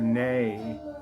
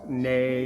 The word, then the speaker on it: ney: And the main player on here who plays the nay, whether it's nay or nigh, sometimes it's spelled N-E-A, N-E-Y, sometimes it's N-A-Y, sometimes I've seen it N-E-I, by the great this